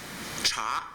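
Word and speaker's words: 茶: character for t and it's pronounced cha in mandarin and in the rest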